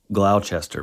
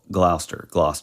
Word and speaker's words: Gloucester: I specifically looked up what looks like Glouchester but it's actually just pronounce GL glou Gloucester you understand what I'm